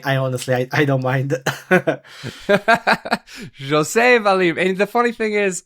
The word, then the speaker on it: José Valim: say it correctly uh for everybody listening yeah Jose valim and uh it's funny you say that because